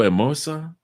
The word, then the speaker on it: hermosa: what she say mucho Hermosa I'm trying to get Hermosa is beautiful because the H is silent mucho immerse she said